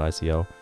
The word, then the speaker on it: Ico: and 102 um Eco I think it's pronounced Eco not Ico and Shadow of the